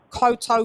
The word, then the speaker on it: Cotto: So double T's, double P's means that phonetically it's faster. Do you understand? You don't koto, koto.